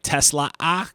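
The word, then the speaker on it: TeSlaa: Uh I liked the extra attention that Isaac Tesla got. Hey, that extra A is there. You might as well pronounce it.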